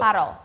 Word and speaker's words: Parol: Di Dibacanya kamera Parol ini apa bisa Perol? dilihat tuh. Parol. Parol.